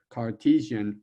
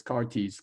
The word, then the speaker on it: Cartesian: coordinate system and so this is known as the cartesian coordinate system not this cartese coordinate system because it's based on